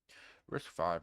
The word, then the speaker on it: RISC-V: Risk 5, pronounced Risk 5, is an instruction set